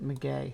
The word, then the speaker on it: maguey: And if you know your tequila, you know that the agave plant, a maguey, yeah, it says maguey right there. It tells you how to pronounce it, maguey.